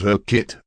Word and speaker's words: Urquhart: I'm going to go with the Urquhart. I'm So- sure there's somebody in the comments just like, Actually, it's pronounced her kit, moron.